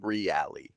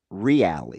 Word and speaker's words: Reale: Reale. Reale. Yeah, he's Italian. Is that an Italian thing? I think the way it's pronounced is Italian specific.